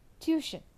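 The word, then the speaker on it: tuition: is T for example in tution t t i o n the first T is pronounced as T and the second T is pronounced as sh in tution right so what is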